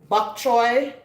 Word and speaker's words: pak choy: And so to this turkey and vegetable soup, I'm going to be adding some pak choy as well. Bok choy for other people who might pronounce it that way.